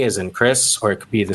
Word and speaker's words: Chris: I never realized my name is pronounced with basically a K, Chris Voss.